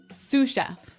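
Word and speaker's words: sous: to our second word suf suf suf suf s o u s so the S is silent because it's like a French word yeah something like that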